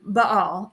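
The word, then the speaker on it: Baal: for Israel is finding Bale statuettes um or my professor would of course correct me and be like it's Bal um so I will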